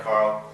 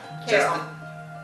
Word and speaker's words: Carol: That's right, Carl. You're doing it right. Yeah. Carol. What? Carol. Carol. I keep calling you Carl, don't I? I know, it's spelled funny.